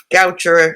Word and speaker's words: Goucher: Maryland called Goucher College Goucher like rhymes with voucher it was uh used